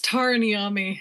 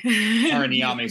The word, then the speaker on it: Tara Niami: Is that how you say it? It's Tara Niami. Tara Niami, sorry.